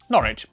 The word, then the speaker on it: Norwich: stir Lester wer gluster w at the start of the final syllable is silent Norwich Beric suuk e r